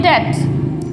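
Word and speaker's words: debt: Next है, ज़्यादातर हम इसको डैप्टी बोलते हैं, पढ़ा होगा आपने कहीं, ज़्यादातर कॉमन में इंग्लिश में बोला जाता है डैप, डैप नहीं होता, इसकी जो प्रोनाउंसिएशन होती है वो होती है डेट, डेट।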